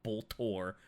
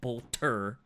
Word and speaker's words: bolter: bolt bolter i i'm trying to remember to say it properly instead of bolt or which is the warframe gun i'm trying i'm trying to get into saying bolter yes it is a